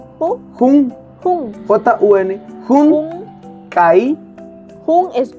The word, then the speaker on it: jun: J-U-N. Jun. Kai. Jun es 1. Kai es 2. ¿Cómo? Kai. Kai. O sea, se escribe Kai, de que te caíste.